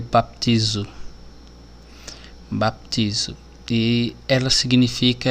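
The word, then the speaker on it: βαπτίζω: Mateus a palavrinha que significa batismo ela se pronuncia para piso baptizo de ela significa é submergir mergulhar é cobrir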